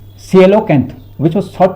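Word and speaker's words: coelacanth: ए एन टी एच कौन सा silent होता है कोई पता नहीं चल है ना silo Kainth which was thought to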